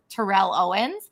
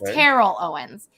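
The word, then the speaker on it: Terrell Owens: him say his name i always thought it was tyrell owens but it's terrible owens so i called him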